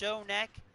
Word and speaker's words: Schoeneck: Still though, like even my name, my last name is Shonek. It's pronounced Shonek, but it's spelled Shoenek, and people pronounce that shit wrong all the time.